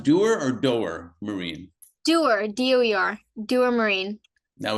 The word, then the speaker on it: Doer Marine: Um, so the last thing before the last couple of questions, is it pronounced doer or doer, Marine?